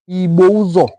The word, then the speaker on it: Ibusa: Communities like Ibozo, Igbo Binuzo, Ibuzo, Ibouzo is the name. It is spelled like this, I-B-U-S-A, Ibusa.